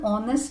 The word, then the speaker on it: honest: honorable here H is that sound of H is silent same way she's an honest lady or I waited for an R so